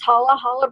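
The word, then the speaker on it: challah: you've ever ever made I think it's pronounced holla holla bread there are different numbers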